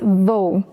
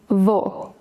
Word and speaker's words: vou: That's vou. It means I go, I'm going to, and I will. But in spoken Brazilian Portuguese, we say vou. So wait, vou is grandpa and also I'm going?